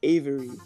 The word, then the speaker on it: Aviary: Another one I use is Avery, AVIARY, and that just helps me enhance like how the armor looks before I put it into any program.